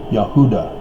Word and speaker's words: Judah: Judah is more correctly pronounced Yehuda or Judah. Notice that it's phonetically the same as Utah.